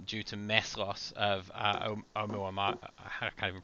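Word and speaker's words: ʻOumuamua: change of trajectory due to mass loss of Oumuamua, I can't even pronounce that. How do you pronounce that, Michele? Oumuamua. Oumuamua.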